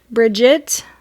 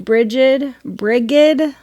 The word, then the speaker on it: Brigid: the goddess Bridget, and you might hear her name pronounced a couple of different ways. Yeah. Bridget, with a T, Brigid. So Brigid is also another way to say it.